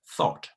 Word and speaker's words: thought: Thought, with your tongue in between your upper and lower teeth, okay?